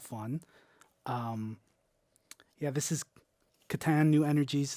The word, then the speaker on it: Catan: a lot of fun um yeah this is Katan new energies it's the newest version of the